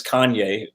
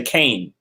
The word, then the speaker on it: Kanye: household name make sure everyone knows how to pronounce the name yeah one time it was like before everyone knew it was kanye people used to say kane right right right so right now a lot